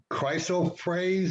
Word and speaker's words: chrysoprase: Some say it's chrysoprase. Is that how you pronounce it? Yeah. Others say it's glass.